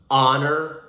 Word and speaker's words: honor: or home and then three more examples with a silent h so with the vowel sound our honor and honest now a few examples